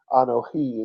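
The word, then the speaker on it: אנוכי: We use the word Anohi in Hebrew.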